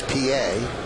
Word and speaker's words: Pie: The batter's name is Felix PA, but it's spelled pi.